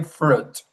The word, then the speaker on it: fruit: No, we have to say fruit. Fruit. We don't pronounce the I in this word fruit.